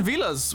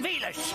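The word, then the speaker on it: Villads: She might be the most appropriate, considering the name, but Captain Vilas, with a silent D, can just about match her impressive contributions. The name's Captain Vilas. The D is silent.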